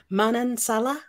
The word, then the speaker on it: Manansala: good morning did I even say your name Manan Salah yes correctly I did it yes you did